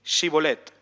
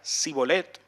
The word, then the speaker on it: Shibolet: Si él respondía que no, entonces le decían: ahora pues di Shibolet. Si decía Sibolet, porque no podía pronunciarlo correctamente, le echaban mano y lo degollaban junto a los vados del Jordán.